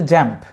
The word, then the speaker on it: XAMPP: তাদের মধ্যে অন্যতম যে সফটওয়্যার সেটার নাম হচ্ছে জ্যাম্প, XAMPP।